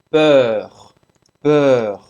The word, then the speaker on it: peur: Para fazer esse som do E, faz a boca do O e fala E. Peur, peur, medo.